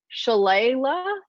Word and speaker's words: shillelagh: I once drunkenly attacked a Canadian goose with a shillelagh. Shillelagh is correct. Shillelagh. What is it? It's pronounced.